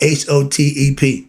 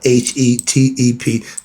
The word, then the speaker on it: Hetep: To hear it, you hear it sound Hotep. No, the E sound and the O sound pretty much synonymous. So some write the O, I use the E. So it's spelled Hetep.